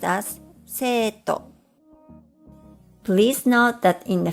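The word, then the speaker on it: 生徒: For example, the Japanese word for English is pronounced as eigo, and student is pronounced as seito.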